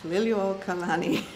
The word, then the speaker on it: Liliuokalani: Now, how do you pronounce it? Liliuokalani.